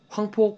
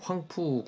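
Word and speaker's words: 黃埔: 이런 의열 활동만으로는 독립이 어렵다라고 해서 그 황포 군관학교, 뭐 중국 발음으로 황푸 군관학교에 이제 들어가죠.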